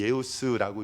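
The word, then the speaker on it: Ἰησοῦς: 제가 원어는 저도 잘 몰라가지고 잘 보여드리지 않는데요, 여기서 예수 그리스도, 이 예우스라고 읽어요. 예수, 그 다음에 크리스토스라고 읽습니다.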